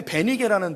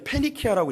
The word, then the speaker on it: 페니키아: 우리 성경에 베니게라는 동네가 있는데 원래는 페니키아라고 읽습니다.